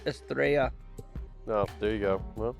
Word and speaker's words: Estrella: It's pronounced Estrella, No, there you go.